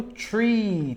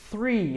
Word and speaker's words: three: Então, 0, 1, 2, 3, muito cuidado, muita gente erra a pronúncia do 3 e acaba falando tree, tá? Tree em inglês é isso aqui, ó. Tree é árvore, tá? Ó, tree quer dizer árvore, não tem nada a ver com 3. Então, é importante treinar a pronúncia para não falar tree, tá? No lugar que deveria falar three. É esse som de fa, fe, fi, so, su, tá ok?